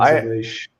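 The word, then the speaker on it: Aleix: Yeah, it's spelled Alix, but it's Alish.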